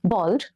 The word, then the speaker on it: bald: Blonde, bald, or bold? B-A-L-D. Bald. Bold means brave. Bald means no hair. The spelling is different and the pronunciation is also different. One is bold, the other is bald.